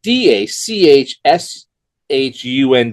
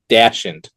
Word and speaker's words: dachshund: The word is spelled D A C H S H U N D. It is dashant. It's a dachshun. Whatever.